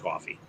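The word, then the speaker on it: Ko-fi: of like three bucks the idea is it's enough to buy a coffee and that's how it's actually pronounced coffee okay so it's like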